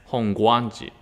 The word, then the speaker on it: Hongwanji: god it way before it was not god it was pronounced as gua so in that time honganji was pronounced as hongwanji and then when we begin using a translation english because we were pronouncing hong guanji they tried to also describe using a w hong guanji so that is like the same sounds panagia words change gua becomes so without a w sound but as a traditional